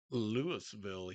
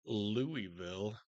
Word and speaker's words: Louisville: Yes, we pronounce it Lewisville here and not Louisville like they do in Kentucky.